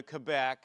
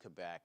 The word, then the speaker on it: Quebec: But if you go to Quebec, it's supposed to be pronounced Quebec. If you speak French, you're supposed to say Quebec, right?